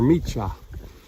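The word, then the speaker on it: Șeica Mică: And we are leaving the village of Sicha Mika, or Micha. Not quite sure how it's pronounced, but it's spelled S-E-I-C-A-M-I-C-A with a little umlaut over top of it.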